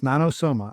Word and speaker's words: Nanosoma: It's Nanoo and that's spelled N A N O S O M